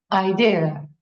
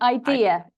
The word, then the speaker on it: idea: Idea. Excellent. So it's definitely idea, 3 syllables, with the stress on the second syllable, and not ID, which